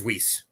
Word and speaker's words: Weiss: uh one a berry Elise or Weiss how do we pronounce that Jay do you know uh it is whis whis okay yeah all right well let's uh the Orthodox Jewish naming system escapes me but in her case that's how she pronounces it so I tend to